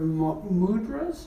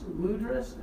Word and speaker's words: mudra: And these are Thai Buddhas, and they have different mudras. Mudras, is that how you say it?